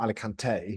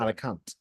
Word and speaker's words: Alicante: because there's no apostrophe on the E. So I'm guessing that it's not Alicante, No. it's Alicante.